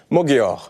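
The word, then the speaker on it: Magyar: Arthur Kenikberg, comment prononce-ton-on le nom du nouveau enfin du futur premier ministre en Hongrie ? Mogor. Mogor. Bon, on va dire Magar parce que il vient d'apparaître dans le spectre médiatique français.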